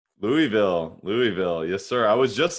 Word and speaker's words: Louisville: And actually, let me just back up a step because I say Louisville for folks who are not from Louisville. That's how you really pronounce it.